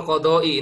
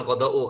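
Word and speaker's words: القضاء: Wakal qodoi. Ini dibacanya qodoi, bukan qodou. Karena ada huruf K ya. Setiap isim, setiap kalimat yang dimasukkan huruf K, itu maka posisinya harus dibaca kasroh.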